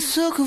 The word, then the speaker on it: sucker: By the way, notice that in the song, sucker is pronounced without the typical strong American R at the end. I'm a sucker for you.